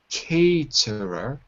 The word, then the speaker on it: caterer: the verb participating also pronunciation of caterer it's a like snake caterer a uh also expand business